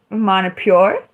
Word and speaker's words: Manipur: So anyway, Manipur is actually called Manipur, Manipuri, or Manipura, whichever one you like.